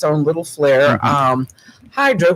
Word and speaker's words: Hydra: Hydra, which they pronounce Idra, there's no vehicles allowed on the island at all.